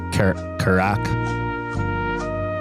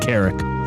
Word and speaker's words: Carrick: I might have said like Carrack. Carrack. But it is pronounced Carrick. Okay, I'm going to try this.